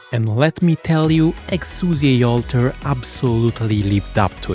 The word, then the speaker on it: Exusiai: For years, everyone has been calling her Exia. That's mostly because Arknights didn't have English voice actors early on, and in Japanese her name sounded like that.